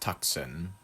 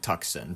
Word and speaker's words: Tucson: By the way, Tucson should be pronounced Tucson. Tucson. It just looks like Tucson to me.